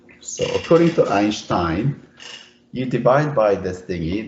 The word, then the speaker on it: Einstein: Or if you follow the original German pronunciation is Einstein, meaning 1 stone So according to Einstein, you divide by this